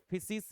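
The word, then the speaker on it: physis: फिसिस या फुसिस बोल सकते हैं। अलग-अलग प्रोनाउंसिएशन हो सकती है।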